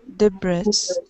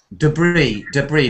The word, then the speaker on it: debris: Spiraling, funneling could suck up animals, glass, rubble, and debris. Debris. This is pronounced without the S at the end, like a bit like in French. So debris.